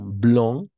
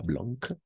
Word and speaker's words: blanc: vieille nouveau nouvelle bien blanc blanc pas Blanque blanc et blanche d'accord blanche